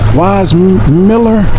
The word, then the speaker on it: Weissmuller: Weissmuller or Muller? I think he had a German name, but the American pronunciation is, we always called him Johnny Weissmuller.